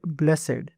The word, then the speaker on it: blessed: But in religious or formal expressions, you may hear blessed with two syllables. Blessed, blessed, blessed, or blessed, both are correct, depending on how it is used.